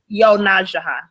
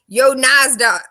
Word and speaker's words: YoNasDa: How do you say your name correctly? Yonajaha. Why didn't you correct me this morning when I called you Yonazda a million times?